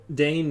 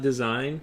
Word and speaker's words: Dane: Dane, not design. Pronounced Dane like Great Dane dog.